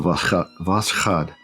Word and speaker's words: Voskhod: Because I always wanted to say Voskhod before, but I know that's not right. I don't think the K is silent. I think the K is there to make the sound. So Voskhod, something like that.